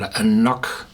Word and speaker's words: An Cnoc: The whiskey was named Black Hill because the distillery in which this AnCnoc, or AnCnoc, how it's pronounced the right way, is produced, carries the name Knockdhu.